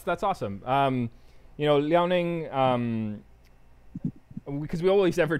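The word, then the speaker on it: Liaoning: i a o n i n g yes leoning okay i'm gonna just put that on the chat for everybody and um awesome cool yeah no that's that's awesome um you know leoning um because we always ever just talk about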